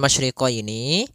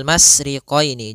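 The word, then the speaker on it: الْمَشْرِقَيْنِ: masriqaini pada lafal masyriqini maka di sini ada huruf syin maka kita harus membacanya dengan adanya sifat tafasyi Apa itu tafasyi tafasyi adalah salah satu sifat yang terkandung di dalam huruf syin yaitu menyebarnya suara sehingga Jangan dibaca rbul masriqini jangan dengan huruf Sin tapi dia huruf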